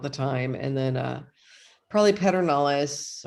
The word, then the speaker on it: Pedernales: And then probably pedernales, or as they say, perdonalis. Oh, is that really? I've been saying it wrong this whole time. I know, so have I. And so apparently there's no R in there though. This is what I hate about Texas. Yeah. And you and I being from the Midwest, we don't get this. It's like we don't add R's.